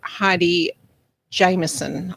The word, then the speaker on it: Heidi Jameson: I was introduced to Kyle through a lovely lady called Heidi Jameson. I'm trying to pronounce her name correctly now.